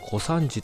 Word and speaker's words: 古山地: 現在は古い山に地と書いて小三治とされていますが